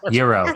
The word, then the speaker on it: gyro: Is that how you say it? Gyro? Correct. Yeah. Yes. Euro Yeah. is how I pronounce it.